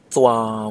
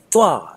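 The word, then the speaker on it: သွား: Don't pronounce it thwa, as if somebody is cutting you off, or thwa with a long stretching tone, but say thwa as if you're trying to get somebody's attention.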